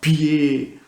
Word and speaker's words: pied: Exemple, pourquoi doit ça s'écrire avec G, pourquoi pied ça s'écrit avec D et on n'entend pas le D.